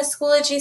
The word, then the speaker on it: Schoology: able to find the access point for the schoology account through the myharmony portal dashboard review a few resources and how to use them in the schoology system and then understand behavioral and academic expectations